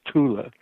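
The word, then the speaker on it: Thule: mispronounced right fo it's it's not th in German it's Tula but uh the Tula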